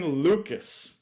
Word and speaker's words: Lukes: Bench, Nathan Lukes. Spelled like Lukes, like nukes.